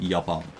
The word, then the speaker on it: Japan: why in English God Japan in Dutch is written exactly the same and it's pronounced yapa yeah but then they